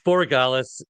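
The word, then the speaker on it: Borregales: And uh this this guy's last name I I always mispronounce it as well. So I'm going to throw that to you. It's Boralis.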